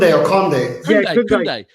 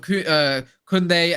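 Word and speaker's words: Koundé: Kunde. What's going on with him? What's going on with him at the moment? I don't want to say it like that as it goes. I retract it. It's Kunde.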